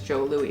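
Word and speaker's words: Jos Louis: was j-o-e as well i'm pretty sure the pronunciation is joe louis but it's j-o-s all right well let's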